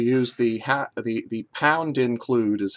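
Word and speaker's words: #include: the ha the the pound include is how programmers would pronounce it you might call it hashtag include uh in the twitter era but it's it's not pronounced that way it's pronounced pound include um we pound include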